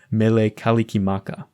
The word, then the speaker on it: Mele Kalikimaka: recorded by Bing Crosby since the Hawaiian language doesn't use the same sounds as English the pronunciation had to be approximated in particular the r and s sounds had to be adjusted so Merry Christmas became Mele Kalikimaka Grizzly Gore Spurs this